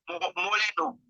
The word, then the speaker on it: moreno: Moreno. Moleno. Ok, moreno. Si. Comme ça, il écrit moreno, mais il prononce moleno.